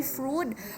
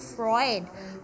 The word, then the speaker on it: Freud: you correct that one sigmund fr i fruit fruit it's sigmund freud all right another merenpa